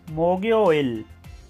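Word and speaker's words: 목요일: बुध को कहते हैं मोकयोइल। जुमरात को कहते हैं और इसे प्रोनाउंस करेंगे मोगयोइल।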